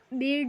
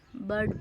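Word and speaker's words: bird: इसको हम डर्टी पढ़ेंगे ब बेड नहीं पढ़ेंगे इसको हम बर्ड पढ़ेंगे सेट नहीं पढ़ेंगे इसको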